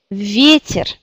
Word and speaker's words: ветер: En regardant le dictionnaire, quelle syllabe est accentuée? C'est yé. Vie. Vie. Ça veut dire ici, on garde yé. Vie. Il y a encore un yé, mais il devient i. Donc c'est ветер. Ветер.